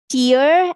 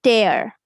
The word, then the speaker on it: tear: Then we have tear and tear. Right?